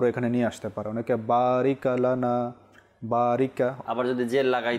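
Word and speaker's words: بارك لنا: মনোযোগ দিবেন তো এখানে জজম রয়েছে জজমে সেখানে একটু থামতে হয় অর্থাৎ বারিক লানা বারিক লানা সেখানে জ বড় নেই জেরও নেই বরং এখানে সাকিন রয়েছে জজম রয়েছে সেখানে থামতে হবে বারিকা নয় বারিকি নয় বা কোন কল কলাও নয় যেটা রিপিট আসে এরকমও নয় বারিক লানা আল্লাহুম্মা বারিক লানা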